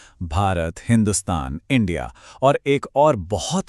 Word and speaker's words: हिंदुस्तान: हुआ यूं कि फारसी भाषा में स का उच्चारण ह होता है। तो उन्होंने सिंधु नदी के पार की जमीन को हिंदुस्तान कहना शुरू कर दिया।